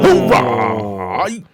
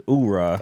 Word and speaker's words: oorah: Oh, Hoorah! it's oorah.